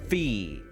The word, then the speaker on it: Phi: It's pronounced Phi. But I think she might have said Phi.